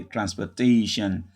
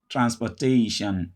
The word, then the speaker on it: transportation: This is the second from the last syllable. Stress, te. Therefore, this syllable is no longer stressed. Therefore, the OR becomes a sure. So you say transportation, transportation, transportation.